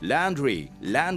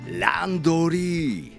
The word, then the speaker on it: laundry: But instead of pronouncing the word like in English, laundry, I would suggest that you pronounce it more like in Japanese English, the one we call Japanglish way. It's gonna be like laundry.